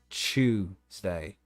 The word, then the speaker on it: Tuesday: No, but it's like British folks say it with like a CH kind of sound at the start, Tuesday.